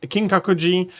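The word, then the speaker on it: Kinkaku-ji: And now that I know what she's talking about, I can pronounce them properly. That is King Kakuji and Kiomizera.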